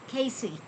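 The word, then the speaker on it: Cayce: And it's spelled C A Y C. Casey.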